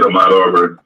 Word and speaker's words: Ahmaud Arbery: And correct me if I'm mispronouncing the brother's name. Ahmaud Arbery. That's it, Ahmaud Arbery.